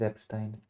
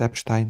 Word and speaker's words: Epstein: Yes, it's Epstein like Einstein.